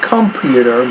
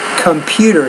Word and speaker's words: computer: computer a computer programmer not computer but computer stress on the second Basics from the class